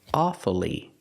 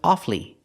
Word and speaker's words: awfully: but sometimes we don't this word has two pronunciations sometimes you'll hear Americans say awfully and pronounce it with three syllables pronouncing the U following the rule awfully but it's not very common it's more common to hear offly offly and not pronounce the U offly two syllables the U is silent this is more common